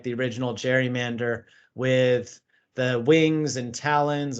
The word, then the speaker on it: gerrymander: Given it was Governor Gerry, you can call it a gerrymander. So there's kind of a GIF versus GIF, gerrymander versus gerrymander debate in terms of how you say it.